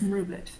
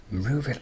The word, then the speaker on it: mroobit: And you did pronounce the username correctly. It is Mubet. Move it.